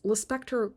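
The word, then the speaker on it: Lispector: is an actual knowledge it's Le Spectre rhymes with Hannibal Lecter Clarice is a character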